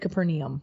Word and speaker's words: Capernaum: What I've been told with biblical words, and you just say it with confidence and you're right, but I've always said Capernaum. Okay. I've added the more syllables.